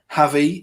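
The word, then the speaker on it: Gavi: Mbappe looks to put one in, blocked, though, by Javi is what I'm going to call him, even though it's spelled with a G.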